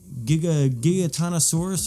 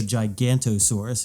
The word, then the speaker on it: Giganotosaurus: It's 12 minutes, so it's right there at my attention span, and it gives it tells you like the Giganotosaurus, or I just call it the Gigantosaurus because it's the big.